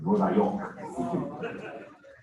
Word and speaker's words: Nueva York: That's how you say it in Spanish, by the way, Nueva York.